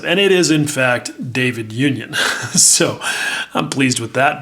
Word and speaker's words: David Union: uh and even asked those guys how to pronounce it and it is in fact david union so i'm pleased with that because i was